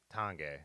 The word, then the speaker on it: Tange: Yeah, I've never known how to pronounce that. Yeah. Tange.